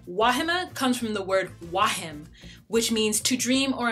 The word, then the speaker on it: Wah: Wah. And since we are in that post-college time, I'm gonna ask that everyone calls me Wah, because I cannot abide the sound of my name pronounced wrong.